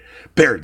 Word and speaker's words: Baird: barbarian how have you say his name Bart Baird Baird that's what that's how